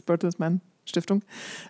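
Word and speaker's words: Bertelsmann: at the bertles manong as I heard you have to say it in German it's even if you speak in English it's bertles manong um she's responsible for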